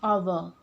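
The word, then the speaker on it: hour: आप देखिए एन आवर, अब इसको जब हम प्रोनाउंस करते हैं तो इसकी प्रोनाउंसिएशन में एच जो है हा की साउंड नहीं आती है। यहाँ पर जो आपकी साउंड आ रही है वो आ रही है आ की, और आ इज वॉवल,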